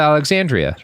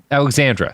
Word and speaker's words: Alexandra: First of all, pronounce her last name right. Sophia Alexandria. Nope. Nope. What? Alexandra. Sorry. Jesus Christ.